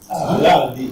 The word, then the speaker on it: Berardi: Berardi. It's Berardi. It's Italian. The stress is on the R.